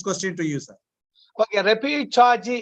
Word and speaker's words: repechage: Okay, repechaji is a right pronunciation because of the Spanish word.